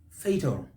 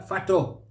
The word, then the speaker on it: fatal: that we do is fatal fatal fatal we stress that first syllable but here what do we hear fato fato we mispronounce a